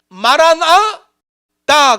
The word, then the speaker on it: 마라나다: 근데 이제 영어권에 있는 사람들이 마라나다 이게 발음이 부드럽지 않으니까 이 영어권에 있는 사람들이 마라나타로 발음한 거예요. 원래 원문은 마라나다로 되어 있어요.